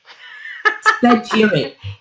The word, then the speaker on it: Spagyric: Spagyric. Yes. It's spelled Spagyric, Spagyric method.